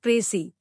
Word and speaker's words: précis: The word précis, pronounced précis, is a noun derived from the French word préciser, which means to specify or to make clear.